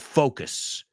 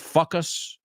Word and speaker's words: focus: Como si vas a decir foca, pero you say focus. Focus, como beso al final.